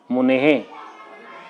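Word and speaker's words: मुनेः: मुनेहे, तो मुने जो शब्द है उसमें अंत में हे का उच्चारण होता है।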